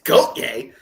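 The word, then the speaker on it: Gotye: Uh, first of all, you pronounce the name wrong. It's Goatier.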